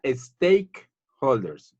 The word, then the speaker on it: stakeholders: Se pronuncia stakeholders, stake.